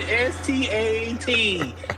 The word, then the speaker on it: Stat: And just so y'all for the record, S-T-E-T is different than S-T-A-T. I am stat.